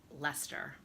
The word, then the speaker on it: Leicester: The one I went to, it's in a town called Leicester, Leicester. My brother-in-law said that it's pronounced Leicester, which is a total Massachusetts thing to do. But I think it looks like Leicester.